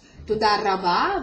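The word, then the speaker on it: תודה רבה: Toda rabba, the resh in modern Hebrew is pronounced as r, resh. Not re, ma, but r.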